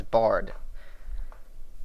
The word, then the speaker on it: Bard: think I called him Baron all three times his name is Bard anyway this guy named